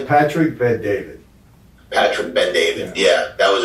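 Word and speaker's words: Bet-David: Yeah, Patrick Ben David.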